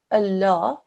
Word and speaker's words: Allah: it carries a Fatah if that letter carries a Fatah then this lung becomes a thick and heavy sound in the word Allah look for the letter